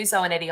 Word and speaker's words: Zoanetti: So yeah, Zoanetti on LinkedIn is a really easy way to find me. Fabulous. Rhymes with spaghetti.